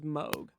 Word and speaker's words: Moog: Well, really Moog, the way that's pronounced is Moog.